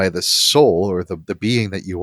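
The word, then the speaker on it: sál: s-a-l and the l the a has a little accent mark over it so it's pronounced soul soul and it the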